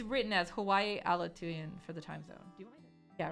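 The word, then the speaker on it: Aleutian: that's also like it's it's written as Hawaii alatoon for the time zone yeah I guess that's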